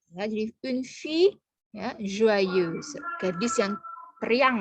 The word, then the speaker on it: fille: elle est une fille, fille ya. Kalau ada huruf I, kemudian ada 2 L, jadi ILL, maka dibaca I saja, tanpa L. Ya, jadi une fille, ya, joyeuse.